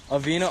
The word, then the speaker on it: Avena: spell it correctly my bad how do you pronounce it by the way oh what a veena okay so I was saying it correctly your